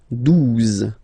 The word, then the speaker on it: douze: okay, douze, douze, O, U, the two together will give you the sound OO, okay, and then Z, douze, douze, alright.